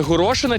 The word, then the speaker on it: горошина: один вже спокійніше горошина не горошина наголос на и добре добре наступне слово